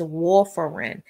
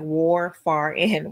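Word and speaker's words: warfarin: Couadin the pronunciation of the generic of couadin is wolerin. Now looking at the pronunciation it probably looks like war far in right but it's wolerin.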